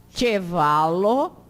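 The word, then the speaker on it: ĉevalo: Pronuncia como TCH, diante de qualquer vogal. Então, chapelo, pode repetir, chapelo, chevalo, tilio, chocolado.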